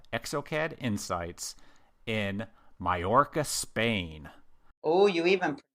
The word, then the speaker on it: Mallorca: amazing conference that they call exocad insights in mayorca Spain oh you even pronounced that correctly well done I've been practicing